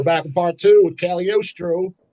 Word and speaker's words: Cagliostro: Yeah, so we're back in part two with Cagliostro. Said it right that time? Somehow right. Said Cagliostro, the singer of Attic.